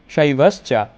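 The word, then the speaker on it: শৈব্যশ্চ: শিক্ষার্থীরা এখানেও শৈবাশ্চা, শৈবাশ্চা, এখানে ওয়া উচ্চারণ করতে হবে।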